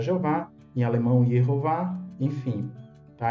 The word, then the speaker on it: Jeová: trazendo o nome divino consta como jehova ou na nossa língua a gente vai pronunciar Jeová em alemão Jeová enfim